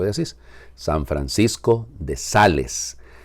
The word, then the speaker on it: Sales: asís san francisco de sales o de sales como se debería de pronunciar aún y cuando el